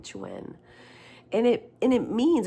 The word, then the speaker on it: chuen: Chuane if if I guess if I get a Spanish pronunciation that e but it seems like he pronounces it chuen. Chuen.